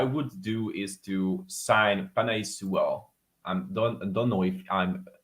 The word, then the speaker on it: Penei Sewell: What I would do is to sign Penei Sewell. I don't know if I'm pronounce it right. Penei Sewell, that's correct.